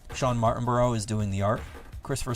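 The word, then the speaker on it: Martinbrough: M-A-R-T-I-N-B-R-O-U-G-H, Martinborough.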